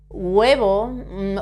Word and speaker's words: huevo: Roth this one El huevo egg when we pronounce this word the H is never pronounced in Spanish in Spanish but when we say huevo or in some words